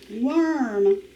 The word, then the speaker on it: worm: one more time er the rule for worm it has that balsi w sound worm so let's check your work w o r m worm remember or can say er when it is with the w in one syllable words number